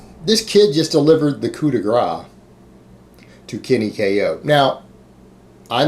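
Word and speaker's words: coup de grâce: going to be like, I think that's coup de gracie. No, it's not coup de grace. Trust me. I don't care how it's spelled. Just trust me on this. It's coup de grace.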